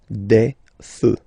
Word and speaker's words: feux: You don't put S, but you will put X instead, and then you don't pronounce it. Des feux, un feu, des feux.